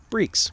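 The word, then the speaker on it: barriques: how that's pronounced and apparently it's pronounced breaks which basically means barrels okay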